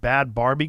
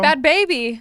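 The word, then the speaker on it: Bad Bhabie: Is it baby? It's not bad Barbie. Nope. Bad baby. She spells it with an h after the cash me outside girl.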